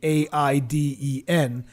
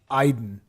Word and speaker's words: Aiden: this pronunciation was weird i thought that because the name is basically a-i-d-e-n i thought it would be aiden but it's iden i don't know me